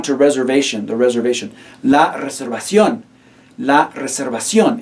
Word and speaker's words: reservación: La reservación. La reservación. Again, be mindful of that written accent mark over the O. Make sure that's the syllable that you stress.